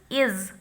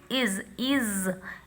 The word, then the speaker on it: is: Similarly, next word when we will introduce is. How we will read it? Is. Here S is pronounced as z.